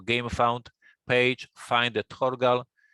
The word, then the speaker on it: Thorgal: the Vikings so so nobody knows how to pronounce it for a for a English speaker it would be thorgal as in like Thor the guard God thorgle